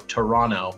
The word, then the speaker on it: Toronto: i'm sorry wait no toronto i'm not supposed to pronounce the second tee right toronto i've been told uh and i'm here